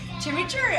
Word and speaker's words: chimichurri: chimichurri.